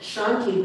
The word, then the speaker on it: Shanti: But Shanti, the sh, is pronounced at the back of the throat because there's 3 S's in Sanskrit.